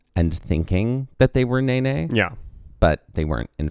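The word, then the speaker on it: Nēnē: that's where we're headed now and it is pronounced Nene and if someone personally who was like obsessed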